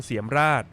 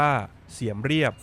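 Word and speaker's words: Siem Reap: หิน นครวัด อยู่ ที่ เมือง เสียม ราช หรือ ชื่อ ท้อง ถิ่น ออก เสียง ว่า เสียม เรียบ ห่าง จาก กรุง พนมเปญ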